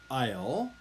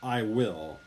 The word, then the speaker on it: I'll: by the way we when it's written like this i apostrophe ll it's actually pronounced i'll i'll not i will okay many koreans when